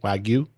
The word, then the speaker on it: Wagyu: I think I'm pronouncing that right? Wagyu?